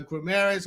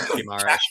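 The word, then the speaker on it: Guimarães: But how do you know whether the 60 million pound player you buy is the Grameres, or is his name Grameres? Is that, am I saying it right? Guimaraes, but yeah, it doesn't matter.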